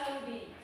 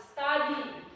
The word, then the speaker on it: study: Sebenarnya harus baca study, tapi ada yang masih baca studi. Coba kita sama-sama mengucapkan study. Study. Ya, jadi itu cara membaca yang benar. Pronunciation yang benar adalah study.